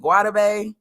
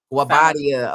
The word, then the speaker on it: Guobadia: Is it Guadabe? It's Guabadia. Okay, let me get that right. So Simon Guabadia, she's representing him.